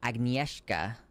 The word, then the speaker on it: Agnieszka: By the way, the name is pronounced Agnieszka.